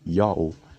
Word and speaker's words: Ιαω: to indicate a glottal stop between syllables the pronunciation is yahoo with a question just as profitable initially thought